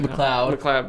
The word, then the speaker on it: McLeod: Tifft, who's a former NASCAR driver, and BJ McLeod, who's a current driver. Did I pronounce his name right? McLeod.